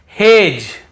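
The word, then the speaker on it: hedge: ये पढ़ रहे हैं फिर देखिए हेज और वेज यहां पर भी डी को हम नहीं पढ़ रहे हैं ब्रिज एज हेज और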